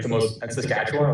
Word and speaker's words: Saskatchewan: Sakatchawan Saskatchewan. Yeah. Oh, Saskatchewan. Yo, listening to Americans say Canadian provinces is funny, actually.